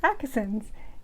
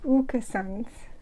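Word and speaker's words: Åkesson's: I would pronounce this accent you would be wrong you that little ring above the a makes it an O sound so it's oka soms and that's it I'm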